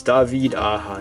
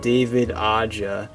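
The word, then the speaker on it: David Aja: Nobody pronounces his name right, by the way. It's Davided Aa. He's he's uh he's Spanish. He's not It's not David Aa.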